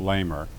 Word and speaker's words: Leamer: Laurence Leamer, L-A-U-R-E-N-C, Leamer, L-E-A-M-E-R, pronounced Lamer.